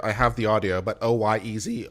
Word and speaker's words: Oyez: I have the audio, but OYEZ, Oyez, it's pronounced Oyez in case you wanted to know.